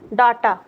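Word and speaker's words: data: अब देखिए यहां एक दूसरा टर्म है डाटा। इसको डाटा नहीं बोलते हैं। इसको डाटा बोलते हैं।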